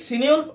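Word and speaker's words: Cynewulf: তারপর কি সিনিউল, আরেকজন মহান কবি সিনিউল বা সাইনিউল, অনেকে যেভাবে বলেন উচ্চারণটা আলাদা আলাদা হতে পারে, অ্যাংলো স্যাক্সন পুরনো যুগের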